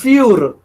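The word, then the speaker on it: für: You put umlaut, the pronunciation becomes different and it's a vowel now. Fure. So you have to just twist that, fure, oil, right?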